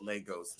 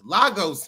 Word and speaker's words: Lagos: I called it Legagos and that's not how you pronounce it to Lagos, Nigeria.